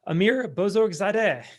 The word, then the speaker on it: Amir Bozorgzadeh: a very special guest with us i have amir bozorzadeh how's it going amir wonderful pronunciation we practiced before and you did it